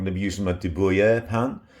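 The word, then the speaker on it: de Buyer: So as you can see, I've got my Dubuyer, there I've said it right, my Dubuyer carbon steel pan.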